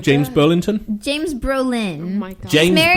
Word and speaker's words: Brolin: James Burlesque. No. You're just mispronouncing it. I am not mispronouncing it. What's his name? James Burlington? James Brolin.